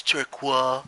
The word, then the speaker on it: turquoise: require uniforms you know that's French we're inside pronounced bread its Turk wah wah and so that's a turquoise uniform there